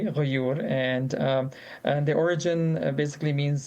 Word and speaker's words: Ghayyur: Ghayyur is an Arabic word, and you pronounce it very correctly, Ghayyur.